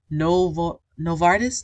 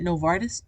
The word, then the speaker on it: Novartis: Novartis, that's how you say it, Novartis, which I believe is a big pharma company.